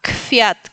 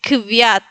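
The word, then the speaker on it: kwiat: En el caso de kfiat es más fácil decir fiat que kviat, ¿no? Entonces por eso se pronuncia f.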